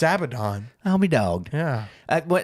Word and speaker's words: Abaddon: Yeah, Abaddon and stuff. So Is it Abaddon? I thought it was Abaddon. I've said it wrong my whole life. it's Abaddon.